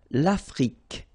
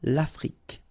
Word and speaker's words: Afrique: L'Afrique, same thing here, final E, it's only the K at the end that you will hear. L'Afrique.